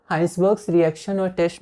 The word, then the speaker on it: Hinsberg: इसे हम हिंसबर्ग नहीं हाइंसबर्ग्स प्रोनाउंस करेंगे, और ये हाइंसबर्ग और एक मिलता जुलता नाम है हाइजेनबर्ग, ठीक है।